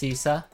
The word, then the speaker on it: CSSSA: School of the Arts that's csssa or usually pronounced cisa and the writers there